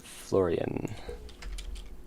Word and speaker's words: Florian: Florian. How to pronounce. From the ancient Roman name Florianus. How do you say it? In English it is said as Florian, Florian.